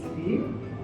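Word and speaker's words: 鱼: Because in Chinese, the fish is yu, the same pronunciation with abundance.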